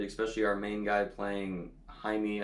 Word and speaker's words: Jaime: our main guy playing Jaime, I believe is how you pronounce it. I don't remember how to pronounce his name because people just keep mispronouncing his name as Jamie in the movies.